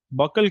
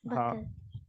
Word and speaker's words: buccal: That is, spell it correctly. Cavity, it is true, but before cavity you said buccal cavity, no? Yes, sir. Buckle. Buccal.